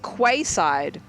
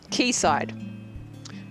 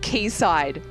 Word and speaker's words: quayside: see you see this word and you're like quayside and someone has to gently take you by the shoulder hand you an alcoholic beverage say drink sit keysight and they just break down in tears because